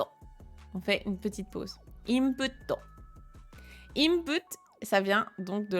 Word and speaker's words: インプット: d'accord mais plus petit ça veut dire que on le prononce pas on va doubler ce qu' a après et ce qui a après c'est un to donc imp comme si vous aviez le ok input on fait une petite